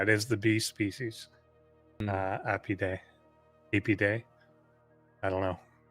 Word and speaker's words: Apidae: I guess that they pronounce it more with the E sound, apiary, apiarist, whatever, for a beekeeper. So I'm going to pronounce it the same way, Apidae.